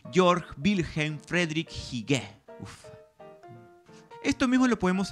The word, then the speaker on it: Georg Wilhelm Friedrich: castellanizar todo por ejemplo jorge guillermo federico hegel que según las preferencias actuales deberíamos pronunciar en buen alemán georg wilhelm friedrich sigue esto mismo lo